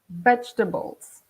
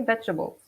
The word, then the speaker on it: vegetables: me break it down so you don't pronounce it the same way as you write it you have three syllables two bolts vegetables okay vegetables alright so we have